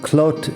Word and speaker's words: Clot: my Catalan pronunciation anyway cloat is always clo nobody's calling it eloo or anything like that have you been to